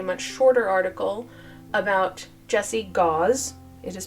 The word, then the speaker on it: Gause: He's English, which means it's gauze, just spelled with an S instead of a Z. Um so it's gauze.